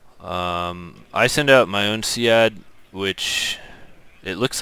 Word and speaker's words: SEAD: SEADs are, also, someone told me it's pronounced seed. But I like SEAD more, and so the military can go and they can deal with it.